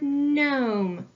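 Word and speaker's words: gnome: have the word know I see I have ghost letter digraph G n I need to cross out my ghost letter I see at the end of this word I have a silent e I need to cross that out too and the silent e sneaks behind the consonant and makes the vowel say its name make its long sound so the foul is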